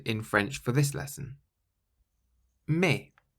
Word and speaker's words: mais: Mais. Mais. It means but. Mais. Now, the word mais is spelt M-A-I-S, but you pronounce it as though there isn't an S on the end at all.